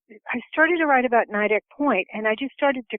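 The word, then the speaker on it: Nideck Point: with your protagonist Ruben visiting a mansion called Nik house uh which is very vividly described just how did you come up with all the details about the house well uh actually I pronounce it nidek Point uh but the you know that house is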